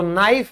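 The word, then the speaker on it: knife: जैसे हम कहते हैं चाकू तो नाइफ में के साइलेंट इसीलिए होता है।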